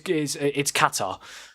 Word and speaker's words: Qatar: You're also saying Qatar wrong, but we'll do with that. So it's Qatar.